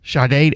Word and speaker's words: Sade: Shade. Isn't it Shade? Shade. S A D E. Shade.